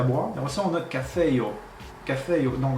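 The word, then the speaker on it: kafejo: Et aussi, on a cafeio. Cafeio. Donc, on voit le J se prononce comme en io, comme ça, comme le Y.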